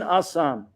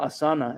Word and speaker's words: asana: Then asan, or asana, as is often pronounced.